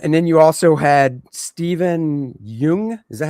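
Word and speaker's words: Steven Yeun: Um, and then you also had Stephen Yung.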